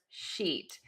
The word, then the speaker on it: sheet: So I always say, think about loving a sheet of paper so much that it makes you smile, because when you smile, your mouth will be nice and tense. The tip of your tongue will be really high and flat in the mouth. And then make that vowel really long.